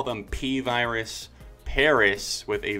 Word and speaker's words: PVRIS: And to all those people, you really thought I would call them PVRIS Paris with a V instead of an A.